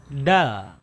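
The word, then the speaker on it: دال: Ya, huruf dal juga termasuk huruf yang mudah diucapkan, ya. Karena di transliterasinya ini kita biasanya transliterasi ke huruf Latinnya, ke huruf biasanya adalah huruf D, ya, D biasa dia. D biasa, dal.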